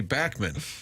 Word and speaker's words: Bachman: air and he said, "It's actually Bachmann." And I said, "You've been Bachmann Turner Overdrive for 50 years." He goes, "Yeah, I eventually gave up." He said, "His name is pronounced Randy Bachman."